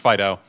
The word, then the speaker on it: FD.io: fast data FDI OH typically pronounced Fido and the scope of